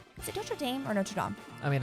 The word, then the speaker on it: Notre Dame: Is it Notre Dame or Notre Dame? I mean, I think the official pronunciation is Notre Dame. Notre Dame. But I think us Americans say Notre Dame.